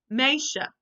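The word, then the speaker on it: meisje: this word M e I SJ e is pronounced May maisha I wrote down how I would pronounce it underneath but this is the actual Dutch word maisha this means girl so girls you can say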